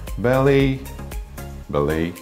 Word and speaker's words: ballet: И произносится, так же, как и кафе, два варианта. Ballet.